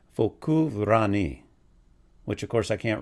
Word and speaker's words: Focu ranni: Okay, so this one is pronounced Focu Ranni, which of course I can't roll my R's better than that.